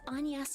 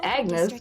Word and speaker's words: Agnes: myself my name is anas how did they say her name Agnes yeah it's Agnes theck I don't know